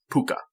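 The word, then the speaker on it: púca: he's a pooka which if you don't i'll spell that for you it's PUC a P you see a pooka and that's an ancient like mythical creature that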